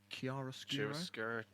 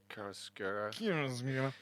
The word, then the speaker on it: chiaroscuro: Chiaroscuro. Chiaroscuro.